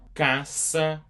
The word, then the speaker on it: Caça: Caça aos ovos. Caça aos ovos. This C with the cedilla, it's what I was talking about that time. It just makes it more like an S sound.